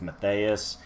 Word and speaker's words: Mathias: sent on the pronunciation there is an H in there so I'm going with Mathias somebody else wants to